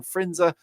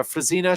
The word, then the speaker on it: Frisina: by keith stewart and eden frinza uh frisina should i say sorry i've been pronouncing his name wrong in frisina um and then rob